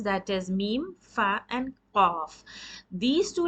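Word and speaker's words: ميم: do letter mean and this is pronounced by the lips by shutting them you need to close your lips tightly and then pronounce meme it is a nice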